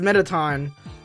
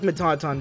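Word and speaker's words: Mettaton: yeah I'm a tonaton I know it's pronounced metaton but I frankly don't care I like mataton better oh my God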